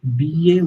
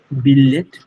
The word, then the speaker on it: billet: Billet wordটা ইটস billet, না ইটস billet, double L সাইলেন্ট, billet।